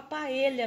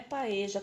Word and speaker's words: paella: Agora aprendi que fala paella mesmo, não é paeja, como eu tava falando. O senhor veio, deixou comentário aqui no meu canal que a pronúncia correta é paella mesmo. Então, agora, a partir de agora, eu vou falar corretamente aqui, não vou falar mais paeja.